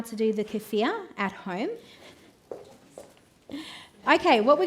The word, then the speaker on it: kefir: It's technically supposed to be pronounced as kefir with like the rolling. But even if you call it kefir like the lime, those bumpy little limes, that's fine.